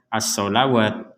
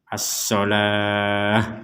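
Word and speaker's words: الصلاة: Jadi di sini jangan dibaca as-sholawat. Nah, walaupun tulisannya di sini ada huruf waw, ini masuknya kepada ilmu penulisan ayat Al-Quran. Tapi cara membacanya tetap as-sholah, begitu.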